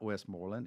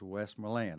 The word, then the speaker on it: Westmoreland: said West Milan Road that's the way the West Milan's pronounce their their name so it is not Westmoreland it is Westmoreland I have to correct a lot of folks at Town Hall on that one but it comes from